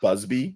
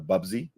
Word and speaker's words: Bubsy: I call him Busby instead of Bubsy.